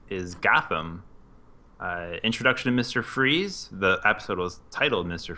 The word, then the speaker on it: Fries: was when they're like, guess how they pronounce his last name, Fries, whatever it was. Oh, yeah. Freeze. Freeze. It was Freeze. I just thought it was Fries.